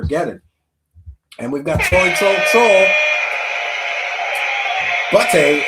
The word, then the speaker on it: butte: Butte is pronounced butte like a beauty. It's like a small mountain.